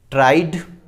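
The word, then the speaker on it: tried: कुछ वर्ड ऐसे होते, कुछ वर्ड्स ऐसे होते हैं जिनके लास्ट में ईडी लगा रहता है, तो उसका जो प्रोनाउंसिएशन करते हैं तो डी ही प्रोनाउंस आता है, ठीक है। उसका जो प्रोनाउंसिएशन आता है डी से ही आता है।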